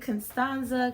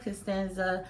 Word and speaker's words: Constanza: constanza okay all right you can pronounce it constanza costanza however you like but today in this